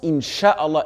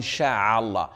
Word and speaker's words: inch'Allah: regretter quoi qu'il arrive on prononce inch'Allah et non pas une Charal car cela change totalement la signification chat veut dire se propager en arabe donc faites attention et